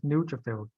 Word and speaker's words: neutrophil: new neutral feel so you put in the pronunciation on the second view like neutral fills okay so it's neutrophil it's the first letter nude so new yeah so it go